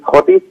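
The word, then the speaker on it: Thwaites: এখানকার যে major glacier, যেটাকে থটিস বলা হয় বা থয়েট বলা হয়, দুরকম উচ্চারণ আছে এটা, সেখানে সেই গ্লেশিয়ার যদি গলে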